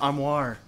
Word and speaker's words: armoire: That's pronounced armoire.